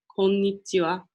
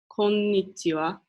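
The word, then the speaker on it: こんにちは: of day right now it's afternoon you'd say konichiwa so I'm gonna announce it again just so you guys can hear it konichiwa and that is again how to say hi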